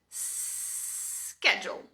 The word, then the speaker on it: schedule: No britânico padrão, a pronúncia é schedule. Sim, schedule. Parece outra palavra, né? Então, em vez de ter o sk, eles falam schedule.